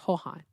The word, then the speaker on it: Joan: His name is spelled Joan, and the J sound in Spanish makes the H, so it's Johan, like Johan. All right, well, almost like Juan, but Johan.